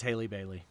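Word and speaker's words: Halle Bailey: It is Haley Bailey.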